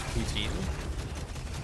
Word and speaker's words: poutine: Yes, it's called It's called Putin or the English pronunciation is poutine.